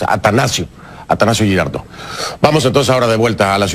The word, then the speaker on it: Atanasio: quiero hacer una corrección pronuncié mal el nombre del estadio atanasio Me parece que dice dije Anastasio no es atanasio atanasio girardo vamos entonces